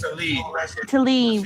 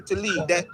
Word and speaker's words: Tlaib: Rashida Tlaib. Yeah, Rashida Tlaib.